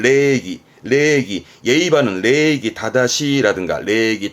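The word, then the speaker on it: 礼儀: 발음은 레기 예의 바른 레기 다다시라든가 레기 다다시 행의 작법 써가지고 예의 범절의 교기사호나 다음에 인사했던 오직이 이런 부분도 좀 챙겨보게요.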